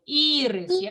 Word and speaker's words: ірис: ірис - це квітка вимовте слово ірис переклад наголошений і 3 дітей складно говорити перший Правильно а що означає